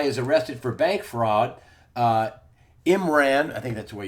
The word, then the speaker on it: Imran: Imran, I think that's the way you say his name.